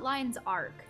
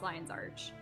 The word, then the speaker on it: Lion's Arch: have settings Oh arch I always call it lines arc but it's lion's arch circle of mispronunciation when